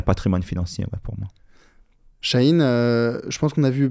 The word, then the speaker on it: Sahin: Chahine. Voilà, c'est ça. Donc ça s'écrit SAHIN, plus loin.